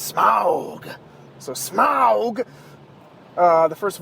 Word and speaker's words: Smaug: blog for uh the desolation of smog always pronounce it smog but apparently it's smog so smog uh the first Vlog was live